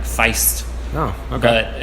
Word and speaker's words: Feest: was Fe est and they actually pronounce it like Feist no I've got it